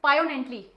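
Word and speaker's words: poignantly: word तो कैसे करेंगे ये जी साइलेंट हो जाएगा और हम वर्ड करें इसको प्रोनाउंस करेंगे पायो एंटली ठीक है जी साइलेंट है इसमें और इसका मतलब होता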